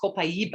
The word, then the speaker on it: copaiba: what a lot of people cope it's actually pronounced copaiba and it's from brazil a tree in brazil and um the copaiba you know cbd oil is people are using